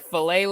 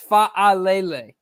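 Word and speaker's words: Fa'alele: He's saying filet like a Chick-fil-A, like filet. I say Falele. It's fa-a-lele. Fa-a-lele.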